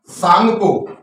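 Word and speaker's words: Tsangpo: इसे कहते हैं इंडो सांगपो, सांगपो। देखिए मित्रों इसमें टी लिखा हुआ है, मतलब सा आ रहा है, लेकिन यहां पर टी साइलेंट है।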